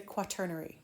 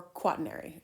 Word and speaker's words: quaternary: this is called the quaternary structure, or quaternary. It depends on how you pronounce it. Either way is fine.